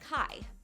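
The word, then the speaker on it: Χ: While characters in the series refer to it as the Keyblade because it sounds like Keyblade, in actuality, the Greek X is pronounced Kai, but Keyblade doesn't have the same ring to it.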